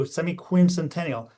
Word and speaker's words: semiquincentennial: to say it properly, you got to hit the Q semiq. If you hit the semi Q semiquincential, you're set.